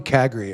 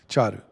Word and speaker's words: Cagri: I'm not calling you Cagri, at least. Charu. Yeah. At the beginning, it's always Cagri. Well, now if you ever see Charu online, everybody, now you'll know how his name's pronounced.